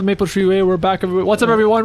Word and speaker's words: Maple Treeway: We're doing Rock Cup Maple Way final break. You didn't say it right. It's called Maple Treeway.